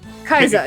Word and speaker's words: Kaixa: That's I forget how to pronounce that. Night Fies and Kaiza? Kaiza, yeah.